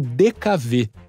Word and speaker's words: DKW: Este veículo foi produzido no Brasil pela VMAG, sob licença da alemã DKW, também pronunciada como DKV, siglas que, em tradução literal, significam a Pequena Maravilha.